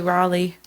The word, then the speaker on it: Raleigh: I have to say, I enjoyed Rosie's pronunciation of Raleigh. I think that's how it's pronounced. It's totally Raleigh.